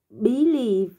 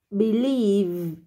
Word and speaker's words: believe: lỗi Từ believe believe cái từ này cái trọng âm Con đang đọc sai con đang nhấn sang trọng âm nha không đọc là bí lì mà là believe believe believe Nó tiếp theo là